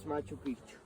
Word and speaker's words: Machu Picchu: it's something the same up there that is Machu Picchu my toothpaste and the opposite this one careful with the pronunciation is Machu pics because if you say